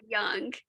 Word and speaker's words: Jung: How do you actually pronounce you? Is it Jung or Young?